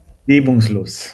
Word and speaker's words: reibungslos: Um, what you need to work on over there is your pronunciations, Mm. so that yeah, so that it just sounds more like smoother and Reibungslos.